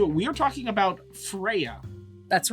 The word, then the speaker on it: Freyja: We are talking about Freyja. That's right. Freyja. No. There's a silent J in there.